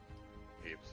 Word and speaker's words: Hapes: So I'm like, Hapes Consortium. There we go. Mhm. That's how you pronounce it.